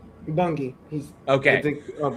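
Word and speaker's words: Bunge: He said Mario Bangi. Yeah. Is it Bungi or Bung? Bungi.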